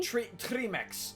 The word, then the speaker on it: Trmyx: Trimex bandits.